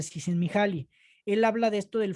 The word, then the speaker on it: Csikszentmihalyi: fecha todavía no lo aprendo, pero así se pronuncia, Csikszentmihalyi.